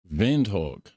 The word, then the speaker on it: Windhoek: Windhoek. Okay, that's probably about right because the W is pronounced kind of like how we would pronounce like a V or whatever over here, right?